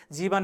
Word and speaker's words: जीवन: जीवन हेर्नुहोस् त, यहाँ ह्रस्व दीर्घ, लेख्य रूपमा दीर्घ छ, बोल्दाखेरि चाहिँ ह्रस्व उच्चारण गरिँदो रहेछ। यहाँ वको प्रयोग छ, बोल्दाखेरि बको नै प्रयोग हुँदो रहेछ।